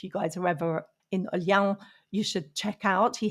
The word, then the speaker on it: Olhão: And I've not pronounced it correctly. Olhão. Olhão.